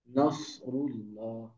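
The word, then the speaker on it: نصر الله: চার আলিফ মাদ হবে নাসরুল্লাহ নাসরুল্লাহ বলবো না নাসরুল্লাহ নাসরুল্লাহ বললে সিন হয়ে যাবে সিন বলা যাবে না সদ একটু মোটা হবে একেবারে একেবারে ডিপ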